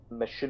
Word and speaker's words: Machinima: Machinima? Machinima. Machinima. I'm going to stick with that. That sounds like the best way to pronounce it. It's like, it's supposed to be a play on, like, machines and cinema.